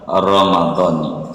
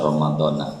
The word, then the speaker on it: Ramadhani: Yang benar Ramadhani. Salah dia baca Ramadhana, salah.